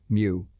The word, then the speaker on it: Mu: Egyptians and Greeks suggest the very name Mew pronounced mu is close to the